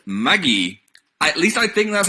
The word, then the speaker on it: Magi: watching with Dan called Maggie. At least I think that's how to say it. That's how they say it in Japanese.